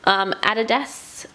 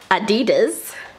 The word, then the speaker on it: Adidas: They are Adidas sneakers, or as the Americans say, Adidas.